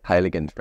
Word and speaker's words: Heiligenstein: Your top vineyard, I think, for Riesling, if I'm not mistaken, is the Heiligenstein. Mm-hmm. Did I pronounce it correctly? Yes, Heiligenstein.